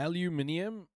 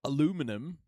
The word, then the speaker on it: aluminium: Speak to what was in the final text of the aluminium. Yeah, that's how you say it, isn't it? Not aluminum, the steel that had you concerned about the sovereignty of Yeah.